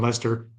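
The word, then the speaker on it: Leicester: the north near um Lester is that how I pronounce it y y r Lester and so when they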